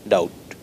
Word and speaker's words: doubt: Doubt. Yeah. B is silent. Doubt.